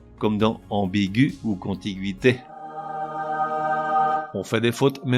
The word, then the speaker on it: contiguïté: À noter que l'on prononce gu, le E restant muet, au contraire des mots qui ont la syllabe gui, G-U-I tréma ou G-U tréma I, que l'on prononce gui comme dans ambiguïté ou contiguïté, avec un tréma indifféremment